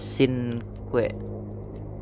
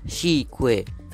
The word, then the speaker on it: Cinque: lengkapnya adalah paganis zona Sin kue bacanya begitu hai oke Guys jadi ternyata bener ya bacanya sique itu adalah bahasa Itali yang berarti lima Ini adalah Pagani Zonda Cinque